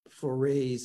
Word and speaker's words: foray: But that was like the early stages, very, very, my first forays into doing that. Well, foray rhymes with touray.